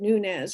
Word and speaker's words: Nunez: um and they um neither of them pronounced it in that correct spanish way so they always said nunes and i i too